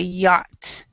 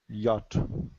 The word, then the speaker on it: yacht: okay a yacht okay yacht and this this is actually pronounced with the CH silent so you could say yacht yacht yeah yacht and soccer